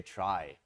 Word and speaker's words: trie: as keys so the the name is traced to come from retrieval that's why it's spelled in this awkward way but then tree is kind of taken already and would confuse the heck out of people so instead we say try I don't know if